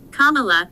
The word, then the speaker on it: Kamala: and a note on her name Kamala is pronounced Kamala and it means lotus flower as she writes